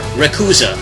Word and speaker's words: Rayquaza: go number one Rayquaza the ultimate dragon and flying Pokémon r quaza or ruza pronouncing Japanese is a legendary Powerhouse